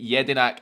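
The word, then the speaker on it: Jedinak: Pronounced Mle Yedinak.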